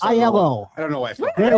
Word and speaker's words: Aiello: Just say it fast. Aiello.